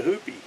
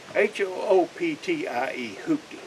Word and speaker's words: hooptie: started doing youtube and i called it a hoopie and uh of course somebody corrected me on youtube you're going to get corrected so uh somebody corrected me and pointed out that the correct pronunciation is hooky h-o-o-p-t-i-e i've been trying to uh trying to say